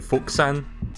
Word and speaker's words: Fuku-san: See, the word is spelled F-U-K-U-San, but the way he says it sounds like he's saying Fuk-san. Fuk-san.